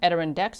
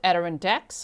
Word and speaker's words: Adirondacks: Adirondacks. I got like 100 emails and millions of comments. People trying to help me pronounce it, but Adirondacks, okay, near Paul Smith's College and close to the Canadian border.